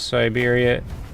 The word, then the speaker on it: Siberia: Had an old Russian woman tell me the proper pronunciation of Siberia. So I like sit. or se like siberia not sigh.